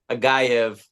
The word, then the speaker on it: Agayev: Agayev. Agayev. It's There's a fine. V in there. It's fine if you can't pronounce my Russified name.